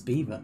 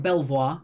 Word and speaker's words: Belvoir: Nice beaver. Is it in Leicestershire, Lincolnshire, Kent, or Essex? So it looks like Belvoir, but it's actually Beaver.